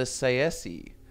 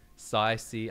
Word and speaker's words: Tsaeci: And is that 100% confirmed how to pronounce it? Because I've heard people say Tsaeci, I've heard Tsaeci. I always said Tsaeci, but I'm fairly sure ESO confirmed it as Tsaeci.